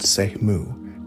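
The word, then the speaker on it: Semu: The Seimu, pronounced Sehmu, meaning assorted categories, were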